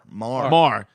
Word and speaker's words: Meagher: saying it's Thomas Meagher, not Meagher. Marr. No, he's not Thomas Marr. Not because if it's Meagher, it's just you can't say any words that are even close to anything. So you better just pronounce it right because it looks like